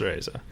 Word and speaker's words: Reza: yeah, it's Reza. But, you know, I think it throws people off because it's spelled with an E, you know? And you say it like an A.